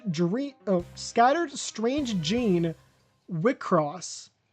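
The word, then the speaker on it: WIXOSS: Wickross. It's w ios ss. And for some reason it's supposed to be pronounced wickross which okay.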